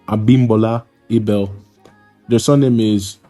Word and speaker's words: Abimbola: It's pronounced Obabinjo Ola, and the second name is pronounced Abimbola Ibel.